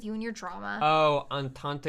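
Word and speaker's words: entente: and your drama oh antante is pronounced on taunt it's a french one okay all right gotcha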